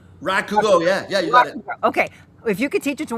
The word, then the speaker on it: rakugo: If you could teach this style, this uh how do you pronounce it again? Rakugo or Rakugo.